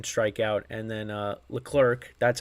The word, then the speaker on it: Leclerc: An inning and a third, no hits, 1 strikeout, and then Leclerc, that's how you pronounce his name, pitched an inning, the 9th, and he had 2 strikeouts.